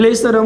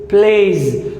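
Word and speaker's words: plays: پلیز پلیز پلیس نه وایو پلیس یعنی اس که څه هم اس دی خو دغه اس موږ زد تلفظ کوو.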